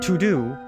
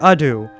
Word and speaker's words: ado: in the last video i've been saying without further to do when it's without further ado i feel very embarrassed